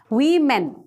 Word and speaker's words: women: these two women women okay woman and women women we are not less than men that's why we men jokes apart the pronunciation of w-o-m-e-n is women okay so these